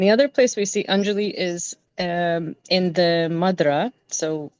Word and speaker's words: Anjalee: So it is pronounced as Anjali. But the way that I grew up, I was born and raised in Chicago, Illinois. So, we said it as Anjali.